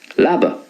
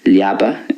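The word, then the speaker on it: leaba: So there's not a whole lot of difference between the Munster and the Connacht way. I would say labba. You might get a pronunciation like liaba in Connacht, but there's not a whole lot of difference. But in Ulster then, liabi.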